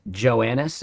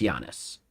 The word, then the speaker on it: Giannis: I've pronounced his name wrong so many times. Joannis is totally wrong. It's Giannis.